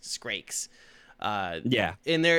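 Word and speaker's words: Scrake: It's not pronounced scave. It's pronounced skrakes.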